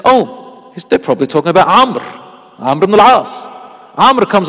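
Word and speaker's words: عمرو: But in Arabic, you don't spell Amr with three letters. You spell it with four letters. Ayn, Mim, Ra, and Waw. So it's like Amru, but it's pronounced Amr.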